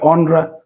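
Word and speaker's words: honra: কিন্তু এ নেই এইচ নেই আমরা ও দিয়ে উচ্চারণ হয়েছে অরা একই রকম ভাবে অনরা মানে সম্মান স্টোরিয়া অর্থাৎ ইতিহাস ঠিক এই ভাবেই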